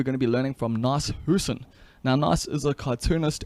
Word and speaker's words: Nas Hoosen: Hey, just before this podcast kicks off, I need to let you know that it is Nas Hoosen, not Nas Hoosen.